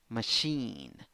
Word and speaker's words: machine: g together answering good and this one seven letters and five sounds two syllables the second syllable is the stressed syllable in the first syllable you have schwa oh in the second syllable you have e machine machine if you want to